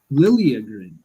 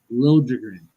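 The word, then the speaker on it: Liljegren: game Timothy lrin now when he was in Toronto he wanted it pronounced Timothy lilin and now he wants to be pronounced Lin uh very very weird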